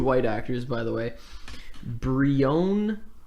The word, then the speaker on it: Brionne: Brione, I might be pronouncing that wrong. It's Brionne.